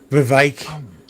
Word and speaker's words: Vivek: Vivek rhymes with snake.